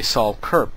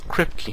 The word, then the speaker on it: Kripke: And as you notice, I was about to say Saul Kurp, because that's how I've been pronouncing his name for quite a while now,